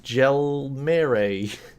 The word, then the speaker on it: Jelmer: butcher your name I'm sure of it is gel mirre hello hello is that those that vaguely right